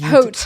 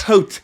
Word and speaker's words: Haute: I did see when you were saying Haute and Freddy, but it's spelled H-A-U-T. Haute. Haute.